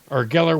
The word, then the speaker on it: Geller: Pamela Geller rhymes with Penn and Teller, making fun of our beards and ankle plants.